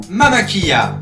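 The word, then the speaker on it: Mama Killa: Barzul forment depuis 2018 Mama Kia, à prononcer comme en Amérique centrale avec la EIE, le double L pour les non-hispanophones, parce que ce nom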